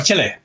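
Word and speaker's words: Chile: इतना बड़ा है ये, अंदाजा लगा ले कि सिवाय इक्वाडोर और चिले, कोई उसको चिली कहता है, कोई से चिले, मैंने जो पढ़ा इसकी प्रोनाउंसिएशन गालिबन चिले है।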